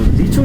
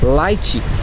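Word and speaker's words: lychee: correct pronunciation কি হবে এই লিচির কারেক্ট প্রোনাউন্সিয়েশন হবে লাইচি লাইছি মানে হচ্ছে লিচু আর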